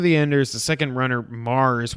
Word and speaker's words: Mars: Zone of the Enders, speaking of Hideo Kojima, Zone of the Enders, the second runner, Mars, which is spelled MVRS, which is extremely confusing, is coming out on PS4, PC, and VR in 2018.